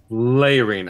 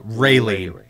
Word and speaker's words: Raylene: The Layrene. I have it written as Irene. No, Raylene. It is, yeah.